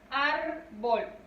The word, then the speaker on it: árbol: Árbol. Recuerden que es lo primero que hacemos. Siempre vamos a trabajar el concepto en dos partes. Primero identificamos la sílaba tónica. Árbol. Su sílaba tónica es ar.